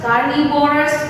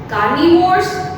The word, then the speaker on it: carnivores: It is not like that herbivorous, carnivorous, omnivores. No, this is a wrong pronunciation, right? So we need to speak herbivores, carnivores and omnivores.